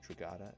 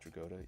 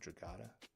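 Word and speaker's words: Dragotta: like and Nick Dr I think he pronounces it drat not drod even though I hear a lot of people saying drod I think Scott William Scott Snider calls him drat so and I think they're neighbors so you would think that they you would know how to pronounce it it's the only people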